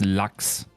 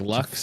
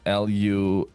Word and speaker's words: Lachs: Because salmon in German is Lachs. And I thought you just mispronounced it. Like Lux as in like Lux? No, Lachs.